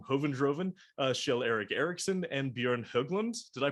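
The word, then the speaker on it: Björn Höglund: two members from Hoven Droven, Kjell-Erik Eriksson and Bjorn Höglund. Did I pronounce that correctly?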